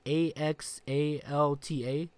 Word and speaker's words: Axalta: AXALTA?